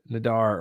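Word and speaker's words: Nader: but nater dude Ralph nater yes it's not nater I remember hearing it last night and it was like Nadar or ner anyways apologize sir um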